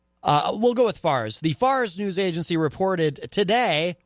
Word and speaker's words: Fars: that short for Farsi it's FA RS will call it FAR's because I feel pronouncing it farce I feel disrespectful like I'm not like I'm calling their news a farce maybe it is a